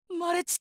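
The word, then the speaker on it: 稀血: がーそうだそう俺のことまれちって読むんだガーンマレちとは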